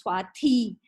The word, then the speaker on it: Swati: And then when I moved to Vizag, there is the T is always TH, so it becomes Swati.